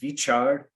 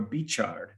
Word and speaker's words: Veechar: So it can either be Veechar or Beechar.